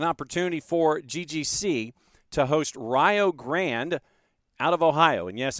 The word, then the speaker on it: Rio Grande: And yes, it does look like Rio Grande, and that's that's kind of how, like I said, that is how it looks, but that is not how it is pronounced. Rio Grande made their way to